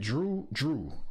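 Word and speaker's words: Jrue: Drew, that's how you say it? Drew. Yeah, Drew with a J.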